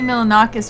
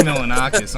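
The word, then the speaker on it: Milonakis: But reminded me of Andy Milaninois right there. Oh my lord. Andy Milanakis.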